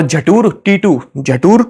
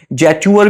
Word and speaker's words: Jetour: असल में जटूर क्या, मैं मतलब जटूरी बोलूंगा क्योंकि भाई स्पेलिंग ही कुछ ऐसी है। जैचूअर भी बोल सकते हैं इसको, ज्यादा अंग्रेजी जुबान पे लेके आओ, जैचूअर, ओके, जैटूर कुछ भी बोल सकते हो, जटूर मेरे को अच्छा लग रहा है।